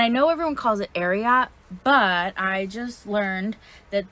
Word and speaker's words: Ariat: the wild it's um ariat and i know everyone calls it ariat but i just learned that this brand is based on the um award-winning horse secretariat so if it's ariat that's how it's gonna